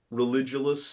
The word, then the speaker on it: Religulous: Not Religulous? Religulous is probably how it's pronounced, yeah. Although Religulous sounds like Caligula, which is kind of cool. It sounds cooler, but it's definitely wrong, and I feel like an idiot.